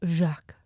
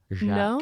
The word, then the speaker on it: Jacques: It's spelled Jacque. Do you remember? Jacques. Jacques. No.